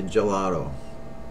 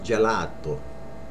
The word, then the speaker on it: gelato: ice cream ice cream a lot of people say Joe ro which is right but without the accent it's gelato gelato ice cream Gallardo